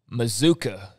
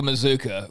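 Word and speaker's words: Mazzccua: to see and uh mazuka is uh is uh the proper pronunciation for anybody who reads m-a-z-z-c-c-u-a it's masculine it's mozuka mazuka like bazooka so maybe that'll become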